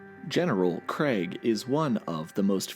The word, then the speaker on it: Kregg: So come on, man, it's Kregg, not Krieg.